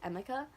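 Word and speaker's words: Emika: I was gonna say Emmy, but it's Amica.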